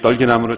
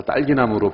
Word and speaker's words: 떨기나무: 어떤 분은 이 떨기나무를 잘못 발음해서 딸기나무로 발음하시는 분이 있어요. 떨기나무입니다.